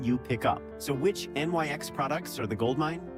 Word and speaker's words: NYX: NYX, pronounced NYX.